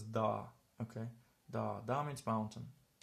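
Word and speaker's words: dağ: have to pay attention then you pronounce this one longer so this is effectively pronounced as da okay da da means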